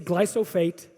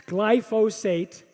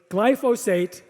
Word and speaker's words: glyphosate: it's active ingredient is called glyphosate everyone's everyone pronounces it wrong they always say glycophage it's glyphosate or they say glyphophosphate glyphosate so that's my first i'm teaching you know